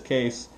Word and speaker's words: Kees: And the name is Kees, Kilowatt Echo Echo Sierra, pronounced as Kees.